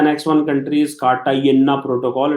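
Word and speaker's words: Cartagena: Next one country is कार्टागेना protocol. It इज नॉट कार्टाजीना, right? So up to you how to pronounce it.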